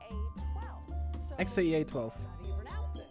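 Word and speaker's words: X Æ A-12: XAEA12. I mean, it's just X, the letter X. X. And then the AE is like pronounced Ash.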